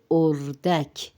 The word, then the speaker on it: اردک: ماہی یعنی مچھلی، اردک، تلفظ پہ غور کرے، اردک، الف پہ پیش ہے اور دال پر زبر ہے۔ اردک یعنی وہی ڈک